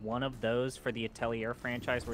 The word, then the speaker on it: atelier: It's 3 syllables. At L yay. L yeah. That's what's the... not. It's not an English word. Atelier. It's at L yay. Atelier. Just at L yay. 3 syllables.